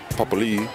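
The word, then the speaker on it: Papali'i: Papalii.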